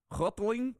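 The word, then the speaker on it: Houghteling: you pronounce that uh i would say half telling right how's it spelled h-o-u-g-h-t-e-l-i-n-g it's hoteling hotling hotling laura hi my name is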